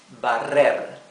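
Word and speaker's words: barrer: and all that okay our other verb is bar bar and here you have to pronounce the rough r okay the verb bar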